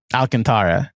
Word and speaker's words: Alcantara: I think it's Alcantra but I think I'm over pronouncing it. Alcantara regardless.